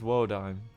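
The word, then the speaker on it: Wodime: will be set aside frozen my name is woodim wod yes that's how you pronounce that by the way found that out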